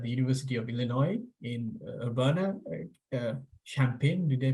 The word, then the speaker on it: Urbana-Champaign: He's an instructor and faculty member in communications at the University of Illinois in Urbana-Champaign. Did I pronounce that correctly?